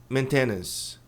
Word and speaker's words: maintenance: Diz maintenance. Maintenance. A pronúncia correta é maintenance. Você esse tido maintenance. Maintenance. Tá. Mas a tônica tá aqui no começo.